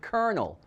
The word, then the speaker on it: colonel: begin to explain how it is that we pronounce the word colonel as in the originator of kfc colonel harland